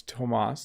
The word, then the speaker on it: Thomas: well could you explain why do we pronounce tomas and not the tongue between the t t sound oh thomas yeah so